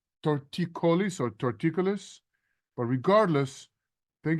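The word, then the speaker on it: torticollis: and the guy there told me I had tortois colar and I should wear a neck brace what the heck is tortois colar and how long will I need the brace Joey it's actually pronounced torticolis or torticolis but regardless thank you for your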